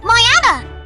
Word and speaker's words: mañana: Sound 3, the smooth Ni blend, mañana.